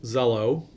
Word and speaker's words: Xello: It starts with an X, but it's pronounced Xello.